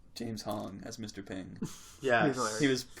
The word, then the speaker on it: Hong: I was just gonna say, does it not sound like how do you say his name? James what? Hong. Hong? Hong. Hong How do you spell it? Hong. H-O-N-G. Okay. Exactly like you said.